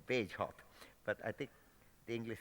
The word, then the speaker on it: Bagehot: originally uttered by Walter, can't never pronounce it. I call him Bagehot, but I think the English seem to call it something like Bagehot or some other thing.